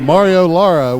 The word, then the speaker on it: Mario Laura: Elijah Telus Chuck actually it's a Mario Laura with from schulenburg we've been saying it wrong all night yeah it's wrong on